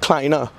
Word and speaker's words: kleiner: Kleiner.